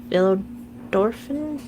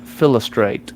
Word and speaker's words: Philostrate: Um, and Orlando Bloom's character, his name is Philo, and Philo, I can't remember pronounce the entire name. Philodorphin? It's Rycroft Philostrate.